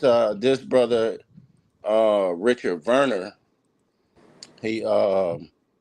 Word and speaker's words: Werner: Um, it's it's Warner, but it's spelled Werner. It's on the screen. Wer ne, but it's Verer cuz you know he German.